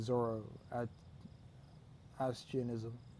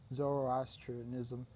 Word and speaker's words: Zoroastrianism: want I need to convert this province to Zoro at asianism I hope I said that right Zoroastrianism I think it was Freddy Mercury that made